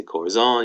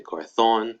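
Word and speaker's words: corazón: accent you can say corazon you can say corathon you can say what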